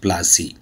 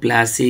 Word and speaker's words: Plassey: Did you know how Plassey got its name? Plassey అనేటువంటి దానికి పేరు ఎలా వచ్చిందో ఒకసారి చూద్దాం. Plassey is an anglicized pronunciation of Palasi, and the place derived